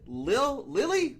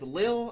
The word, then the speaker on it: Lille: You want to say Lille, but it's Lille, I'm pretty sure, in France.